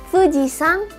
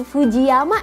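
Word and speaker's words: 富士山: Tulisan ini bacanya fujisang. Jadi bukan fujiama ya, tapi kita pakai cara bacanya yang sang tadi. Jadi fujisang. Cara bacanya seperti itu.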